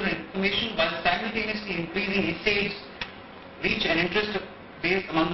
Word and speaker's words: Esade: You pronounce it Esade, so when you hear that, sometimes people are confused. Esade.